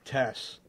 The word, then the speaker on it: Estes: I had one person told me, no, it's Tess. Then I was saying... Estes and no, it's Tess, the E silent. No.